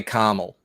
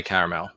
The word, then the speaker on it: caramel: sell caramel caramel yeah some americans say carmel right that's that's regional uh we say caramel okay yeah that's that's